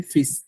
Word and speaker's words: fils: এটা বানানটা হবে FILS। S. যেহেতু এটা ফি হচ্ছে ডটার আর সান হচ্ছে ফিস, FILS ফিস, তখন বলবেন জোসি ফিস ইউনিক, উনিক, আমি একা।